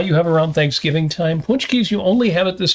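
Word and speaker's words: pączki: Well, and here we also call it Punchki Day.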